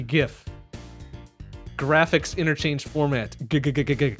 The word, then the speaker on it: GIF: people no way man it is gift hard G gift graphics interchange format you